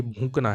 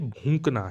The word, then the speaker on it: भूंकना: और मोस्टली क्या है, हम इसको गलत उच्चारण करते हैं। हम बोलते हैं ना यार कुत्ता भौंक रहा है, ऐसे तो बोलते हैं, वो नहीं है, कुत्ता भूंक रहा है, भूंक, ये वाला भूंक आएगा जो, क्योंकि हम क्या है गलत उच्चारण करते हैं इसका, और इसीलिए इंपॉर्टेंट भी है।